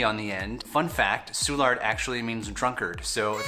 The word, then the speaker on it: Soulard: we call carrandalette park and finally there is a neighborhood near the downtown area that has a lot of bars in it and it's called soulard the french don't say